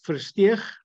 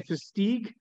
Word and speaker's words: Versteeg: Most South Africans, Versteeg, as if you're clearing out your throat. Most Americans say Versteeg, and the Dutch pronunciation, my original heritage, Versteeg. So Versteeg is fine, Versteeg, if you're clearing your throat.